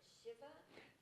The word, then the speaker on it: shiva: And so I was honored to go to, you pronounce it Shiva?